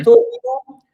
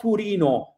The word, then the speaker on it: Torino: Vado a Torino. Torino in Italian is with O. It's not Turino. It's like in English, Turin. But in Italian it's Torino with the O.